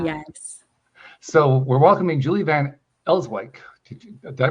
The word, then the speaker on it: Van Elswyk: So we're welcoming Julie Van Elswyk. Did I pronounce that right?